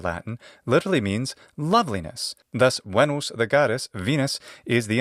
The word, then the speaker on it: Venus: the Olympian goddesses perhaps the most famous is venos in Latin Venus in English Venus in ecclesiastical pronunciation is Venus Venus in Latin literally means loveliness thus wenos the goddess Venus is the embodiment of loveliness